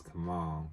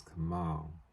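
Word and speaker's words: Kamaal: mean to misidentify you I want to make sure I say his name right it's Kamal see I thought Kamal and Ali were no his name is Kamal get that right I will get that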